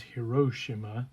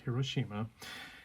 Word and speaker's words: Hiroshima: The correct pronunciation is Hiroshima, not Hiroshima.